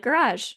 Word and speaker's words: garage: But and my mom and I are like garage, where it's like almost an SH.